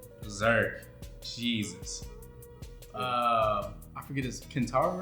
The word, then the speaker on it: Kentaro: I forget his Kentaro, right? That's how you say it? Yeah, rest in peace, Kentaro, man.